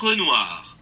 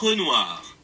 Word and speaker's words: Renoir: name wrong, I'm going to look up the pronunciation online with you right now. Pierre Auguste Renoir. Let's listen to that again. Pierre Auguste Renoir.